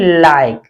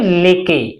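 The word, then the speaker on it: like: silent रखते हैं जैसे एल आई के ई इसे हम पढ़ेंगे लाइक ना कि लेके लिके नहीं पढ़ेंगे लाइक जी आई वी ई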